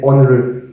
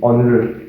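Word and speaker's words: ஒன்று: That is onru, onru, pronounced as something like this, onru, onru.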